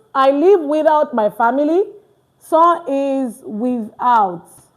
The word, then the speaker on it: sans: You can see now I did not say sans. You get the pronunciation correctly and you're good to go. Remember here I said and look at it now. So not s because a is the s is not pronounced just I say s a n.